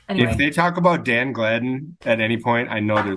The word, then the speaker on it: Gladden: they talk about Dan Gladden at any point I know they did nobody called him Dan it's Danny what are you you're out of your mind not Danny Gladden it's called pronounced glavin he only scored the most